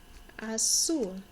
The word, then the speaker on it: azul: Azul. The Z isn't quite as strong of a Z sound for me in Spanish. Azul sounds a little bit closer to a hard S sound.